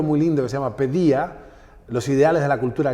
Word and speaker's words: paideia: Hay un libro muy lindo que se llama Pedía, los ideales de la cultura griega. Se lee en español como paideia, pero se pronuncia pedía, por eso pediatría o pedagogía.